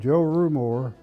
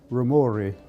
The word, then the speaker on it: Rumore: My name is, well, everybody calls me Rumore, R-U-M-O-R-E. If it were pronounced correctly, it would be Rumori. It's an Italian name.